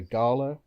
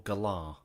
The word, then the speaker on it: Galar: I pronounce it Gala, like Gala Bingo, because Gala Bingo. That's the precise reason that I'm not pronouncing it like that. Gala Bingo, yes, but Gala Bingo exists in the UK, and if it's called the Gala region, I'm calling it the Gala region.